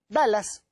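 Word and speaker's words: Dulles: debido a mi ignorancia dallas la pronunciación es como dallas como el este el estado perdón estelar la ciudad la regla norteamericana texas a la personalidad se escribe dhul y es entonces cuando yo empecé a investigar esto me confundían dues como se pronuncia se pronuncia como dallas alan dallas era la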